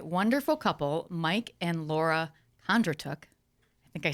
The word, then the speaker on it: Kondratuk: i have a wonderful couple mike and laura kondratook i think i said it right you did